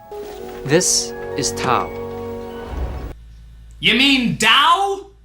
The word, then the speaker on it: Tao: is to you mean Dao the word that's spelled like Tao but pronounced like Dao except by people that